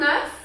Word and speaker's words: œuf: Un œuf, on prononce le F, an egg, un œuf.